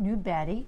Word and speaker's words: Nyberg: Nyberg is Swedish. You pronounce it Nubadi, which means new mountain in Swedish.